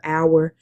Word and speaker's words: hour: Like if you're reading in um French and if you're lead reading in um Latin, the H is often silent like uh the word hour is pronounced o u